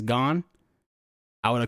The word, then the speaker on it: Gon: Had the show had like the sub not pronounced his name right as Gon, I would have called him Goon.